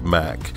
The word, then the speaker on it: Mack: It doesn't really strike one as being designed by Mack, or Mack as it's properly pronounced, I guess.